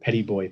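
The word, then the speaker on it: Petit Bois: cores off in this called petty boy past they pronounce it down there it's french for small a small forest and we took 15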